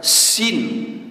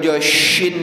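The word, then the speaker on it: س: benar jangan sampai salah-salah contoh makan Sin gak boleh dibaca syin Pak sadidan A BAC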